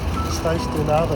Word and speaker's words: pastéis de nata: All right, here's a taste test of the pastéis de nata, that's how you pronounce it.